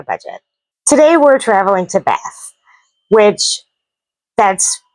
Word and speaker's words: Bath: So I am probably going to say bath instead of bath, but I will try to pronounce it correctly. And you may hear me use the two words interchangeably, but technically speaking, the way you pronounce it is bath.